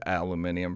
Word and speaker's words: aluminium: worry because Mando is aluminium free that's the British pronunciation baking soda free crueltyfree